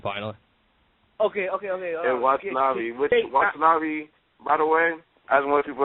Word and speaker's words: Watanabe: of Caprice Coleman and how do you say this guy's last name? Watanabe. Watanabe. Oh, okay. I don't know why. Every time I always see his name, I always want to say Wannabe for some reason.